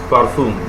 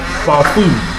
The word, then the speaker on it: parfum: Yes, parfum. The nasal sound is on the last syllable, while the vowel on the fourth syllable is pronounced with a short and sharp intonation.